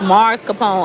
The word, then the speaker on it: mascarpone: For those of you who just joining, he says it's pronounced Mars Capone. Oh, okay. China. It look like ice cream. This thing is so good. Somebody says mascarpone.